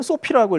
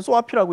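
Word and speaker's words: SOAFEE: 이게 그 외국에서는 소피라고 읽고 우리나라에서는 소아피라고 읽는데 어쨌든 뭐 이 소피라고 하는 단체가 최근에 많이 이슈가 되고 있습니다.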